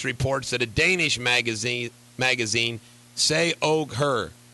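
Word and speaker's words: Se og Hør: that a Danish magazine Say Og Her, pronounce, here, I'm going to help you out here, capital S-E, space O-G, capital H-E-R, has apparently ran completely nude photos of the British princess.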